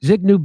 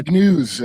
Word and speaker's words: Zbigniew: Remember what Zig Zbigniew Brzezinski said, who was the advisor to Jimmy Carter. He started the Trilateral Commission. He's the father of uh Mika Brzezinski on Morning Joe Ball. And uh Zbigniew, I think it's how you pronounce it.